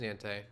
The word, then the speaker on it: niente: I'm not actually sure that's how you pronounce. Because nada would be none in Spanish. Hold on, let me pull up the pronunciation. I'm actually really curious. Yeah, because I think that's German, niente. Niente. Oh, no, it is niente. Never mind, it's not. Oh, it's Italian.